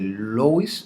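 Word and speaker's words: Louis: algunos, ángulo external o ángulo de Lois o de Loa, como algunos le pronuncian también.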